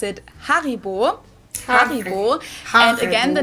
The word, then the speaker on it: Haribo: everyone knew that Haribo is actually German we pronounce it Haribo har and again the name originates in the